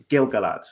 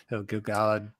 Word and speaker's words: Gil-galad: So many people pronounce it Gilgalad, which I always find really irritating because it's like it's in the meter of the poem, in the Gilgalad poem. You can tell that it's not Gilgalad.